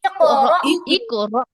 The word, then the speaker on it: اقرأ: না না আপু, হয়ের উচ্চারণ আসবে না। র হামজা জবর র, র হামজা জবর র, এরকম। اقرأ কফের মধ্যে কল্পনা হবে, কফে কল্পনা হবে।